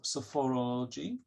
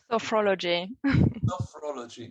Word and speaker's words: sophrology: marion applies principles of sophomore ology to her social work practice i i'm still struggling to pronounce it sophomoreology sophrology okay he uses sophology techniques